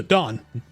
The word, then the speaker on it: dan: I need to remember, it's Japanese pronunciation. It's da and then n. So Dan.